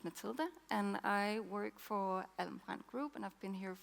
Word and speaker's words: Alm. Brand: It's not easy to pronounce. It's Almbrand Group.